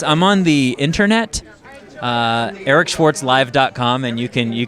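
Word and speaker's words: Eric Schwartz: w a r TZ just pretend you're a DJ Eric Schwarz so that's how you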